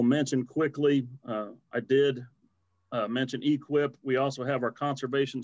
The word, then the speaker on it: EQIP: the eqip program uh eqip we pronounce it equip millions of dollars spent